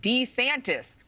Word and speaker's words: DeSantis: But I just found out his name is pronounced DeSantis.